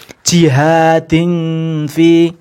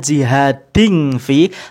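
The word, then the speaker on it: جِهَادًا فِي: Nah, yang terakhir tadi, jihadin fi, bukan jihadin fi, bukan jihading fi, tapi jihadin fi. Jangan mingkem ya, jihadin, jangan jihadin fi.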